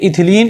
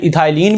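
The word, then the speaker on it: ethylene: रखते हैं, जैसे कि इथिलीन या फिर इथाइलिन भी हम लोग उसको प्रोनाउंस करते हैं।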